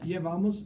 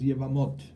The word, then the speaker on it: Yevamot: How do you say it? It's a Yevamos. Yevamos is in Ashkenaz, but it's Yevamot.